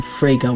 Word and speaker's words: Fraga: you tell me about William Fraga which rhymes with Sega he was a chauvinistic